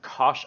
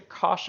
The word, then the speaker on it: cosh: You might also hear others pronounce this function as cosh t, but I prefer to call it cosh t.